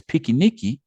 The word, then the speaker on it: piquenique: Because again, Brazilians pronounce the term as piquenique.